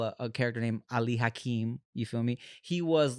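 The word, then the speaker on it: Ali Hakim: was in the musical they call him Ali hackam but his name was Ali hakeim he was a Salesman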